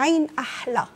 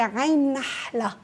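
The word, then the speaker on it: عين نحلة: في عنا منطقه اسمها عين احلى هي مش احلى بس على اللفظ هي عين النحله عين النحله فتعرفي جايين اثنين نون ورا بعض كانها راحت كانه عم تقول عين احلى هي عين نحله نحله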